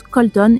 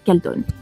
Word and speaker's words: Calton: Attention, en anglais se prononce Colton et non Calton.